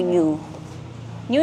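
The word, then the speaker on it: NYU NYU: Then, another store na murang-mura at affordable, tas marami pang mapagpipilian is New New. New New is spelled as NYU.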